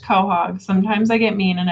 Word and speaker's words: Quahog: a Quahog I love and it is pronounced Quahog sometimes I get mean